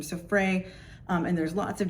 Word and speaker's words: Freyr: Um I usually typically stick with sort of what was at one time the academically accepted Frey, f r e y r. Um silent r at the end, um but I know